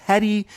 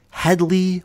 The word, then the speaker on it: Headey: decided this match so had he said heady had he stuck with heady he would have gotten the point but Headley or Healey entirely different name Allah the Keli McGinness